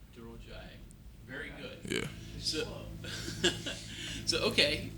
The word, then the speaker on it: Durojaiye: Either it's Tomiwa or you can say Tomi, and then my last name is Durojaiye. Durojaiye.